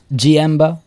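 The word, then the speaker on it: Jienba: off you go birani gmbo i assume is how that's pronounced that's gmb starting with a j-i-e-n-b-a 4-20 and umbara as well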